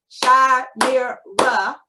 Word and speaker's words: Shimira: to say their names my name is shah mir ra i can do it by hand clapping but i can also